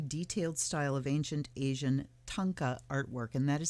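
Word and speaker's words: thangka: style of ancient asian tonka artwork and that is spelled t-h-a-n-g-k-a like thang with ka on the end tanka artwork these complex images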